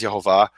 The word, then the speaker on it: Yehovah: Conspiracy of Silence, saying that the name is Yehovah.